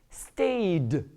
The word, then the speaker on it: stay: The first one is called, reigned, lived, robbed, stayed. Here, you'll notice that when you pronounce this word stay, you don't hear the Y. The Y is silent.